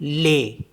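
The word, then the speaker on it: les: होते हैं for example L ई एस इसको पढ़ते हैं हम ले एस साइलेंट हो जाता है तो ले का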